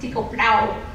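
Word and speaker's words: Tycho: style astronomer The damee Tao brah I'm told that's pronounced Tio but that just sounds like Garling um in the late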